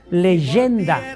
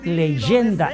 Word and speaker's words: legenda: Nosotros escribimos con G, legenda, de ahí viene legendario, pero en latín ese legenda se pronuncia leyenda.